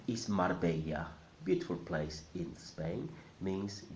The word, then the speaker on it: Marbella: The R in the middle must sound mar, mar. And the second bit, the Spanish way. Many people are familiar with the Italian way of saying this bit, bella. But in Spanish it's not bella, it's bella.